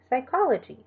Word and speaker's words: psychology: A PS at the beginning of a word is pronounced only with the S sound, so psychiatry or psychology.